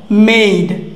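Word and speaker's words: made: আবার দেখো মেড, এই যে এ এখানে ই, এই দেখো এই দুটো মিলে কি হয়ে গেছে এই হয়ে গেছে, কি হয়ে গেছে এই, তো এটা উচ্চারণ কি হবে মেড, কি হবে মেড।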